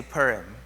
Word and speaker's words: Purim: Everyone say Purim. It's spelled P-U-R-I-M.